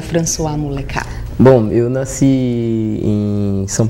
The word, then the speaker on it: François Muleka: Descobri, ela é de Floripa, o nome dele já é chique, sente só a pronúncia, François Muleca.